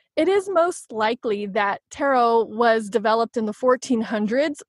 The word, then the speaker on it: tarot: get the modern day word of tarot with a silent T at the end so